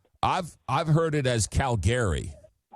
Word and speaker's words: Calgary: Calgary. Calgary, Calgary. Okay. Because I've I've I've heard it as Calgary.